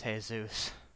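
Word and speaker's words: Jesús: vote like wait is by Jesus you mean like hey-zeus I think is pronounced Jesus on me check I think it's hey-zeus but unless they still haven't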